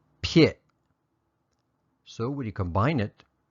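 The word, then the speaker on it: ဖြစ်: verb for is and here it is it's pronounced pit so when you combine it with the affirmative verb particle it would be pit a it uses the teh pronunciation because the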